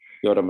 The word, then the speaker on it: Iorram: Cole, who is the director of the film Iorram, which am I pronouncing You're doing well, Iorram. All right, cool. There's always discussion between the islands of how you say it correctly, but Iorram is working well.